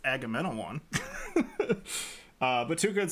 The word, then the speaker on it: Agamemnon: And Tuca was explaining that Agamemnon, if you guys want to know how to pronounce that, it's Agamemnon.